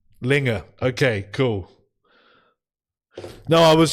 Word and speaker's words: Linge: Linge.